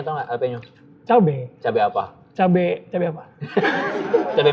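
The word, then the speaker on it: jalapeño: Jalapeno tau nggak? Jalapeno. Cabe apa? cabe apa? Cabe Meksiko. Cabe Meksiko ya? Bacanya bukan jalapeno ya, jalapeno. Yes, jalapeno.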